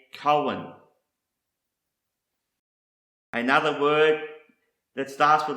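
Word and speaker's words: כהן: Another word that starts with the letter kaf is pronounced Cohen, and this is the Hebrew word for priest, principal officer, or chief ruler, a Cohen.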